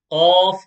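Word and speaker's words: ق: when these two touch off is pronounced okay off is like a heavy cue and not just the cube the letter q but a heavy a heavy version of the letter q of okay and the next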